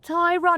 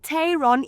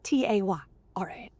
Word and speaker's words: Tayron: So remember, this is the Tayron, not the Tayron, even though it is spelt T-A-Y-R-O-N. Okay, it's like tie, like you tie a tie. You know, Tayron.